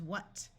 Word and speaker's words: what: a short u sound wh has the sound of w in most of the United States so this word is what this s will use